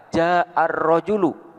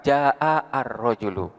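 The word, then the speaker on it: جاء الرجل: Jadi kita bacaannya adalah ja'ar rajulu, bukan ja'a ar-rajulu.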